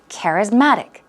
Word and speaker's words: charismatic: and it becomes charismatic so charismatic the stress goes on care as well but a stronger stress goes on Matt charismatic charismatic okay means appealing alluring